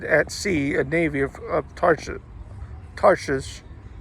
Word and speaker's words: Tarshish: For the king had at sea a navy of Tarshish, that I think the first H is silent, Tarshish with the navy of Hiram.